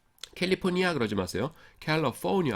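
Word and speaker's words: California: 캘리포니아 악센트가 뒤에 있습니다.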